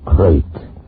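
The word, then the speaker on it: krait: Tonight, we escape to India story of a man trapped in his bed by a crate, the most deadly, poisonous snake in the world, as Roald Dahl tells it in his terrifying story, Poison.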